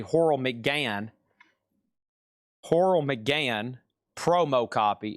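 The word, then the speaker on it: Horrell McGann: Horal McGain is spelled H O R R E L L M C G A N. And it's actually Horl Mcan.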